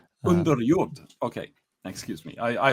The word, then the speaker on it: Underjord: I'm joined today by Lars Vickman of Underord. I hope I got that pronunciation right Lars although I know you would pronounce it differently right away.